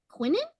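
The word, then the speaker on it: Quintion: in his family so my name is pronounced Quinn quinnin uh the T as silence so but it's uh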